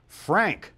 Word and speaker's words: Phranc: I'm Phranc with a PH and a hard C.